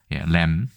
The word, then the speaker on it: lamb: lamb. 비는 묵음입니다.